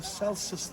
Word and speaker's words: Celsus: That is the famous library of Ephesus, called the Celsus Library. Let me spell it for you: C-E-L-S-U-S. So without the I, has nothing to do with the temperature measurement, Celsius.